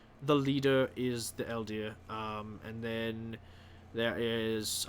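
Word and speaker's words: Eldeai: walker all right well it's supposed to be pronounced elder elder but i do not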